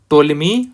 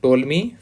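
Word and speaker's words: Ptolemy: इस समय शासक था टोलेमी 5वां। पी साइलेंट है इसमें, टोलेमी 5th।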